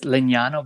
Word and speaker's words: Legnano: How did you ultimately end up signed by, pronounce it for me? Is it the Legnano? Yes, it's Legnano, but it's good.